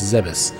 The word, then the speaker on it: Zebes: supposed to be pronounced it's not zebes it's zebus zebus has fallen all